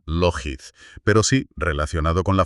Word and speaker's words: Lockheed: Bueno, se pronuncia Lockheed, pero sí relacionado con la famosa compañía aeroespacial.